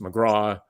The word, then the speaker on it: McGraw: But I think once they understood, okay, so the C is silent and it's just McGraw.